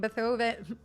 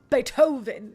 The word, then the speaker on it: Beethoven: Bethovven. Bethovven. Why did I say it like that? Beethoven.